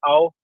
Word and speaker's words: Ao: AO stands for blue. It's pronounced ow.